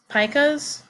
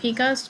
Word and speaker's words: pika: includes the group that pikas or the pikas depending on how you pronounce it they are distinctive due